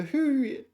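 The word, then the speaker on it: 胡: Uh, the who is pronounced the same as who, which is a Chinese surname.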